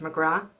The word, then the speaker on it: McGrath: i keep forgetting because in ireland the name mcgrath is pronounced mcgraw there's no th on the bottom at the end and then i have